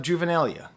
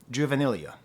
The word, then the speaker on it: juvenilia: contemplating was out of juvenalia juvenilia I don't know how to pronounce that word I've only ever seen it read uh juvenilia I believe is how you pronounce it is it like